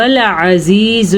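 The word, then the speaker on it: العزيز: حصے سے نکلتے ہیں۔ عزیز الحکیم، اب آپ میں سے اکثر لوگ پڑھتے ہوں گے عزیز الحکیم یعنی کہ عین کے تلفظ کا دھیان نہیں رکھتے تو وہ پھر الف سے عزیز بن جاتا ہے تو اس کا میننگ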